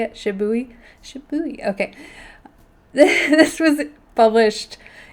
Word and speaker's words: Shibui: Shibui.